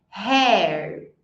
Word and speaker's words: hair: que tá o problema a galera tenda falar com o som do R Mas aqui é home repita depois em mim Hair H Hei Hat então